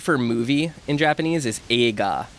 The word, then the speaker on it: eiga: So E-I-G-A, eiga. When you pronounce the E and the I, when you think about it, you might tell someone it's just a long E. It's a, but you are saying eiga. Yeah. It's just very subtle. It's like a. very subtle in there.